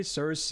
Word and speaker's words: Circe: If you want to say Circe or whichever, that's fine, but I've used, because Japanese it's Kirke, okay? I'm just, yeah, okay. Apparently it's not even close to the original Greek pronunciation, but you know what?